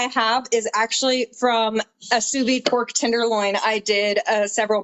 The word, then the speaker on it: sous vide: I believe, let me know if I pronounce this right. Sous Vide pork steaks. Sous vide, yes.